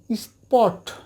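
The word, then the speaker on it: spot: এস পি ও টি স্পট স্পট আমরা স্পট বলতে পারবো না স্পট হলে 50% ফট চলে আসছে হবে না এটা এখানে 100% যা আছে সেটা হবে শর্ত হচ্ছে যে তার পূর্বে এস থাকতে হবে মানে এস এই লেটারটা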